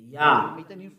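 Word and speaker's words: יה: How to pronounce it? Yah. According to the Hebrew. When you see this word, it is read Yah in Hebrew.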